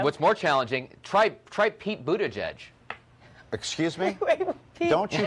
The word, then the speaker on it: Buttigieg: Buttigieg. Okay. Like boot, edge, Buttigieg.